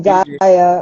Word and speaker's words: Gaia: You can call me Gaia also. Gaia, like Gaia, Mother Earth.